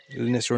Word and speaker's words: Lonicera: If anyone's dealt with Lonicera hedges, Lonicera Nitidas, pileatas and stuff like that, that's how you pronounce it.